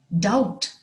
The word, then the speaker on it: doubt: her unable to speak doubt d.o.u.b.t has a silent b doubt a feeling of